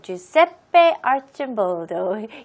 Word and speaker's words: Giuseppe Arcimboldo: So it's about Italian painter Giuseppe Arcimboldo. So here's the pronunciation. Giuseppe, Ju, G는 J 발음으로 하시고요. Seppe, 마지막 E는 E로 발음하시고요. 그다음에 Arch, 이 C는 CH로 발음하시면 돼요. Arcimboldo, Giuseppe Arcimboldo, Italian 발음이에요.